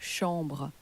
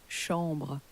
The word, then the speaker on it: chambre: the word for chamber, the ch in French has changed to a sh sound, because ch in French is pronounced like an sh in English.